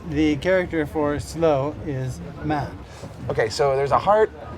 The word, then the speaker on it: 慢: the side so the character for slow is man okay so there's a heart and there's a